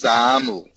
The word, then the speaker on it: XAML: XAML is short for Extensible Application Markup Language, and it's pronounced XAML.